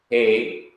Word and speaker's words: he: Here are the guttural consonants. Aleph, which is silent in pronunciation. He, which is our English H.